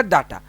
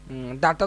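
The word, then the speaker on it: data: आपको दिया हुआ होगा डाटा, ठीक है। डाटा तो नहीं, डेटा बोलते हैं, तो हम डाटा ही बोलेंगे, डाटा इंटरप्रिटेशन। असल में तो डेटा होता है, जो इसका प्रोनाउंसिएशन होता है डेटा, ठीक है।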